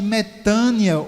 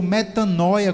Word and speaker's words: metanoia: a bíblia chama de metano ou metanoia como algumas pessoas pronunciam a palavra grega que